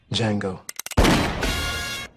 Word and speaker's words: Django: Django. The D is silent.